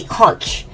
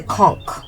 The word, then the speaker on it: conch: Most people say conch, but it's a conch. It's conch. But I imagine conch is acceptable too.